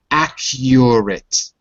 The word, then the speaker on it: accurate: pronunciation of the letter U in the word accurate notice there's an extra vow it's a your y y y you know that sound because you have a letter for it in Russian like your that so it's exactly the same sound accurate accurate that's it